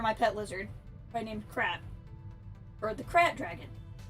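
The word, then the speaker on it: Krayt: This is modeled after my pet lizard, by named Krat, or the Krat dragon. Everyone pronounces it Crate. The Crate dragon of Tatooine. I understand that's the canon pronunciation of the dragon.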